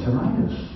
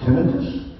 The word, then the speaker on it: tinnitus: oh, maybe you have tinnitus. I didn't even know how to pronounce it. Tinnitus? No, American is tinnitus. But I'm from Canada. Oh, maybe you do say tinnitus. Actually, both pronunciations are correct.